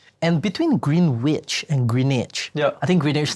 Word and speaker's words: Greenwich: Green witch. Oh, how do you pronounce it?